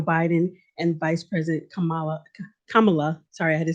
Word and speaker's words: Kamala: elect president-elect joe biden and vice president kamala kamala sorry i had to say it right kamala